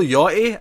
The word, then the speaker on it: Yachty: And I'm assuming it's Yachty, because it's spelled like yacht with a Y at the end. Yeah, it's got to be Yachty.